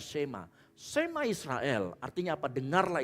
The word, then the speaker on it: Shema: Pada saat Ulangan 4 ayat 1 itu berkata, dengarlah hai Israel, kata dengarlah di sana itu dari kata Shema, tulisannya sama tapi dibacanya Shema.